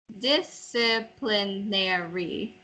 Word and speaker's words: disciplinary: Disciplinary. Disciplinary. Not Disciplinary. nary. Nary. Mary. Nary. Disciplinary. No. No, because you have to be careful not to. It's like having a yosak. There's only yosak on the first syllable.